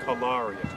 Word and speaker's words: Cagliari: We've been saying it wrong the whole vacation, but it's Cagliari.